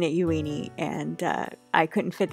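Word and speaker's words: Euini: name uni before but looking at the Katakana it looks like yui knee so that is why I am pronouncing it yueni and uh I couldn't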